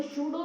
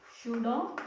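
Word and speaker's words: pseudo: और जो अमोर्फस जो सब्सटेंसेस होती हैं वो सूडो सॉलिड होते हैं, पी साइलेंट है इसमें, सूडो सॉलिड्स होते हैं।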